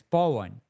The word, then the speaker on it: Paw: My name is P A W and it's Pan.